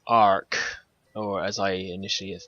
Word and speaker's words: AR-K: to what this is it's called arc or as i initially have called it ark as that's kind of